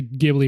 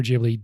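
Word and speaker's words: Ghibli: together and kind funny I am gonna say gibli or jibli differently every time perfect you can find endless amounts of evidence for either pronunciation amazing uh anyway so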